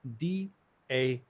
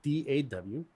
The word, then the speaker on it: DAW: is commonly written as d a w this can pronounce be pronounced as such d a w or as da you will use me